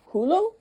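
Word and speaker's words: hullo: And this hello is spelled H U L L O. So like hulo.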